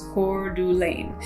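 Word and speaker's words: Coeur d'Alene: number two place that i'm talking about is cordu lane now that's up in northern idaho and it's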